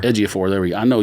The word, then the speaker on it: Ejiofor: How do you pronounce his name? Ejiofor. Ejiofor.